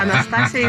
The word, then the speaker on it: Anastasia: it's it's better yeah Anastasia is the right pronunciation yeah americ me Anastasia Anastasia that's what I thought that's more the the Greek way of saying it yeah they they stress